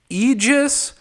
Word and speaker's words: Aegis: tells me it's pronounced Aegis and you just ignore the a at the front so it's like E and then just I